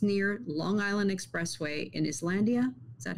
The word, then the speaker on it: Islandia: they were traced near Long Island Expressway in Islandia.